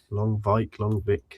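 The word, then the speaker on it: Lonwijk: Longvik, I can never remember how to pronounce his name. Nigel Longvik. Is that right, Harv? Longvik? Longvik.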